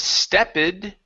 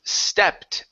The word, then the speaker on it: stepped: to the ED ending instead of stepid-- okay the word is stepped the e is silent